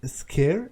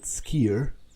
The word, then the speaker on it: Sker: me that you PR you pronounce it scare indeed not skier uh and it seems